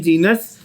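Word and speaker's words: genus: Class तो ठीक है, class, order, family, जीनस, जीनस, this is जी नस, ठीक है।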